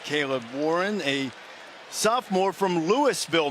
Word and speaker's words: Louisville: That is Caleb Warren, a sophomore from Louisville, Mississippi, where they pronounce the S.